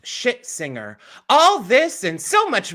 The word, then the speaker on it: Scherzinger: And Nicole Scherzinger almost definitely has destroyed her chances at a Tony.